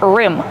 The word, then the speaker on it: rim: Kevin, how do we pronounce rim? Rim. Use the short I sound like this is.